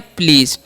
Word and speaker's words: please: PLEASE है, तो इसे हम पढ़ते हैं प्लीज़। एसी का उच्चारण यहाँ पर ज होता है, तो क्या पढ़ते हैं प्लीज़।